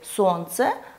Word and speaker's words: солнце: Например, для проверки непроизносимой согласной в слове «сердце» мы можем подобрать слово «сердечко», где мы отчетливо слышим нашу непроизносимую согласную «д». Или, например, в слове «солнце» мы подберем проверочное слово «солнышко».